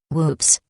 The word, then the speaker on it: WPPSS: on July 25 1983 wppss pronounced with Macabre humor whoops announced that it was